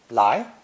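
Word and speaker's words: 来: harvested basically it was borrowed for its sound in the spoken language pronounced second tone lie lie however the original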